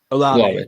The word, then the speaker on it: Olave: I can never see if I pronounce this the right way. Is Chris Olave or is it Chris Olave? Olave.